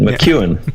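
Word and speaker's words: McEwan: Tyler Lyle and Tim McCune did I say it correctly that time too cute that sounded right with a very Scottish accent McEwen basically meet you McEwen McEwen McEwen yeah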